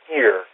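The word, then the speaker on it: עיר: And the actual writing for the Watcher is a word that would be pronounced more like ear or eerie in the Hebrew.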